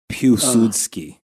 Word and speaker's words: Piłsudski: Piłsudski. Yes. It's got that stupid Polish L with the line through it. Yes. The W.